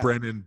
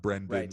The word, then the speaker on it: Brennan: I don't collaborate and that's Brendan BRE and and a n-not Brendan to be I just I